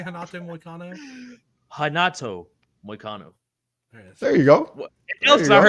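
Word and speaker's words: Renato Moicano: Hanato Moicano.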